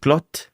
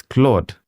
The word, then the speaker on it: Claude: You can even add in a dictionary to say instead of saying clot, I actually pronounce it as Claude.